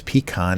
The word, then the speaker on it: pecan: In Texas, pecan is pronounced pecan, not pecan.